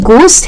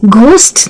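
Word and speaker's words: ghost: वैसे ये गोस्ट की बात है तो एक्चुअल में इसका प्रोनाउंसिएशन गोस्ट है, घोस्ट नहीं है। तो वो एच जो है ना उसके बाद वो साइलेंट ही है, इसीलिए हम घी वाला घ नहीं लेके आएंगे।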